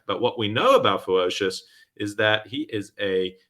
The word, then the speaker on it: Fewocious: And for people who struggle to pronounce his name, the way I think of it is ferocious with a W. Fewocious.